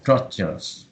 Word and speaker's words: structure: Struck, like struck, yeah, Structure. struck, then chores. Chore. Struck or Chore.